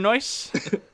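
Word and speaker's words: Noyes: adam adam takes place his name is mr noice and it's spelt n-o-y-e-s anyways at the mountains of madness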